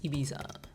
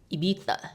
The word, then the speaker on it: Ibiza: How do you pronounce Ibiza? Ibiza.